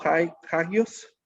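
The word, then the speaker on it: ἅγιος: Cuando vemos la palabra santo, vamos a ver su pronunciación, algo así como hagios.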